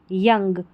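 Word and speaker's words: young: यंग ओ यू को यहां पर अ पढ़ा गया है।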